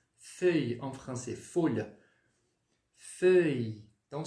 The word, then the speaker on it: mille-feuilles: a gente vai pronunciar feuille em francês? Folha. Feuille. Então, você vai falar, primeiramente, o que? O E. Qual que é o som do E mesmo? É o O com um biquinho.